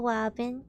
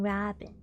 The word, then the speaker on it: Robin: I'm sorry shinka but I think you're mispronouncing Robin isn't it Christopher Robin isn't that how you say it until how say Christopher